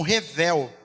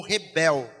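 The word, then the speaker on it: הֶבֶל: Essa palavra, vaidade, ela é a palavra que em hebraico ela é pronunciada como revel ou rebel.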